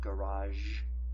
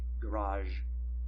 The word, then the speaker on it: garage: There are two accepted pronunciations for the word garage. You can say, and I am emphasizing zh a bit, zh, garage. You can say garage, and you can say garage.